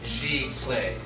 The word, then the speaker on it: Giclee: So we're going to go over the history and the origination of the term Giclee, and that's how it's said, Giclee.